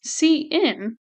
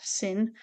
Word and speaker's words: cin: we want to use C in notice it's pronounced c n not sin we use C in